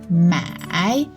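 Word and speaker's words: 买: both have different tones this character the tone is the third tone and this one the tone is the fourth tone so all pronounce it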